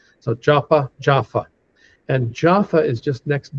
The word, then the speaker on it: Jaffa: If it doesn't have that little dot in the middle of the letter, it's pronounced like an F. So, Japa Jaffa.